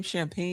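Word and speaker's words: Champagnie: for a lot of how do you pronounce his name? Champagne.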